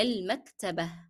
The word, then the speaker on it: المكتبة: However, when I am reading it in the sentence and I stopped on it, I dropped the pronunciation of ta marbuta as ta and I replaced this with he. And I also dropped the pronunciation of the short vowel kasra.